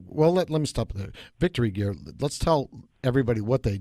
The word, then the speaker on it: VKTRY Gear: And first of all, it's pronounced Victory Gear.